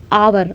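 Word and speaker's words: hour: H silent हो जाएगा और आवर आवर मींस आ का साउंड आएगा इसलिए यहां पे स्वर लगेगा।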